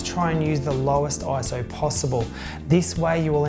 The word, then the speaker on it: ISO: Well, you may have noticed throughout the whole video I've been saying ISO. I used to say ISO until I found out that it is not actually an acronym.